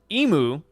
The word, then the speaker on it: Emu: And then for emu, you break the name down, it's one six. E and moo.